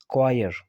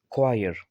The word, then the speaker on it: choir: तो इसकी जो प्रोनाउंसिएशन है वो क्या है, क्वायर। बगैर चॉयर के हम इसको चॉयर नहीं पढ़ेंगे बल्कि क्वायर।